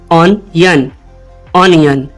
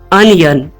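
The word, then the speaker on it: onion: हमारा वर्ड है य इसकी गलत प्रोनंसिएशन लोग करते हैं ऑन यन नयन जबकि इसकी सही प्रोनंसिएशन है अनियन अनियन मेरे साथ कहिए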